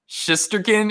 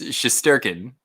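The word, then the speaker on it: Shesterkin: It's not Shisterkin, it's Shisterkin, you know?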